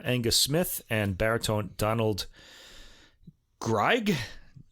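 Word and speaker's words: Greig: smith and baritone donald gregg it's spelled g-r-i-e-i-g so it's not it's like the opposite of grieg in german it would be greg i don't know anyway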